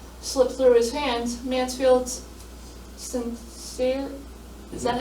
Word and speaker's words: Sincere: seeing a touchdown slip through his hands, Mansfield's Sincere, is that how you say it?